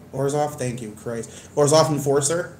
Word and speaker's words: Orzhov: The, oh, man, I have no clue how to pronounce the black-white... guild, how do you say their name correctly? Orzhov, thank you, Christ.